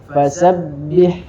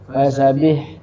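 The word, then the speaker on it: فسبح: yang jari dulu fasabbih Yang pertama dihilangkan tasdidnya. Fasabih fasabih bihamdi ya. Harus ditahan fasabbih sabbih ya.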